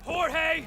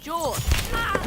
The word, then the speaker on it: Jorge: one up gets it jorge my name's pronounced jaw don't you backtalk me